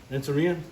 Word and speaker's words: Renteria: How do you say his name? Sergeant Renteria? Renteria? Yes. Come on, dog.